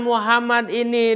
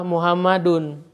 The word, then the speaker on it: Muhammadun: Sehingga karena Muhammad ini dia sebagai pelaku, sebagai subjek kan dalam kalimat ini kan, maka kita harus membacanya domah Muhammadun. Tidak boleh kita membacanya Muhammadan atau Muhammadin.